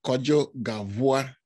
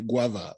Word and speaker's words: Kodzo Gavua: Some people even call me Guava. Once they don't eat me, I accept. Yes. So it's Kodzo Gavua.